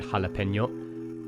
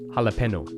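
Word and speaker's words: jalapeño: That squiggly line called a tilde is a diacritic mark, as it tells speakers to move from n to ny. Without that diacritic mark, the word would be pronounced jalapeno.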